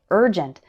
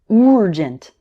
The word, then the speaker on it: urgent: number of students involves words like urgent which they might pronounce with a strong u sound like urgent but urgent and urban actually start with more of an er sound like in bird or early repeat after me early